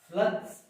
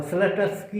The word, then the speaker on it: स्लत्स्की: ये हिंदी उच्चारण आप जान लीजिए, पुस्तकों में उच्चारण हर जगह सही नहीं है, और ये उच्चारण है स्लत्स्की। जनरली कहीं कहीं टा लिखा हुआ, स्लटस्की लिखा, गलत है, उच्चारण गलत पढ़ते हैं।